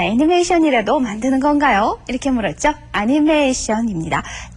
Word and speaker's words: アニメーション: 애니메이션입니다. 중간에 장음 들어있는 것 잊으시면 안 되죠.